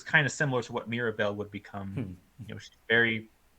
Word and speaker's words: Mirabel: with that show um her name is interesting because it rhymes with miracle to an extent um but also like